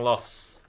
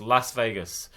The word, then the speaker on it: Las Vegas: Air Force One in Las Vegas sorry not Las Vegas Las Vegas stop saying loss it's Los Angeles it's Las Vegas I can cope with